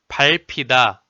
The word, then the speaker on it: 밟히다: Number 4 is 리을. The syllable 발, 발, 발, 발, 발, are all sounded as 발. There are some examples as like 발가락, 발가락, 밟히다, 밟히다.